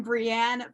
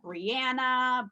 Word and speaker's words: Brienne: And I may not have such a hard name to pronounce as Bailey, but for some reason, Brienne, people can get it wrong. They say like Brianna, Brian.